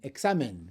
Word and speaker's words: examen: Let's think about one with an n. Examen.